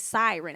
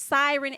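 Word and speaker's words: Psiryn: And it's Siren as in P-S-I-R-Y-N. I believe that's how you say it, but they can sing.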